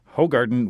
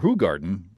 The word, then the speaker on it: Hoegaarden: In contrast, Hoegaarden was extremely sour. Hoegaarden, I've been pronouncing it wrong, was extremely sour, sometimes described as containing sour milk-like flavors.